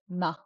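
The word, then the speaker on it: ན: And then Goldilocks is na na N A, na.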